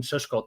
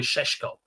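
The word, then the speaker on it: Šeško: were on the Benjamin Shesko train. I just put it sorry Sheshko as it should be saying as many top gunners are saying to pronounce it properly.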